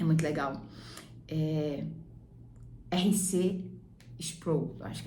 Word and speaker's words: Sproul: Sproul, acho que é assim que se pronuncia, S-P-R-O-U-L.